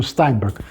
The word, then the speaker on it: Steinberg: real German pronunciation, because if it were a German name, it would be pronounced as Steinberg, of course with K at the end, not G, Steinberg.